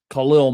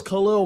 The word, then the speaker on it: Khalil: They did their thing, and he said it's Khalil Mack, not Khalil Mack.